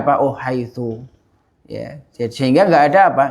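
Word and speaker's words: حيث: Oh ini harakatnya harakat akhirnya ini haitsu dia bacanya apa Oh haitsu ya Sehingga enggak ada apa enggak ada kaidah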